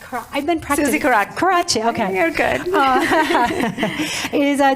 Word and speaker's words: Karadsheh: Karadsheh, okay.